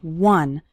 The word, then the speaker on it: one: minutes a day finishing one short activity the word one starts with the W sound okay some students pronounce it like on but that's not correct it's one one short activity and the